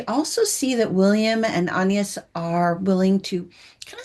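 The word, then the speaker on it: Agnes: into the lives of William and Anas, which that's how they pronounce it in the film. So that's how I'm going to pronounce it in this review. So that's why I'm saying it that way.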